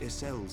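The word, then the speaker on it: Ysayle: I would of course have beseeched Isel's assistance in this matter. Oh, Isel is how her name is pronounced, okay.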